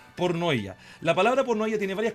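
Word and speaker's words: πορνεία: fornicación en griego se se escribe y se pronuncia pornoa la palabra pornoa tiene varias connotaciones tiene una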